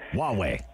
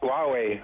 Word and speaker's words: Huawei: going to bring hawaii hallway i couldn't even pronounce it huawei huawei on their usually not for their internet they're